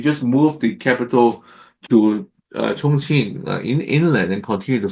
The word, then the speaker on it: Chongqing: Now Chongqing is over here. Okay. Now this pronounced Chungqin.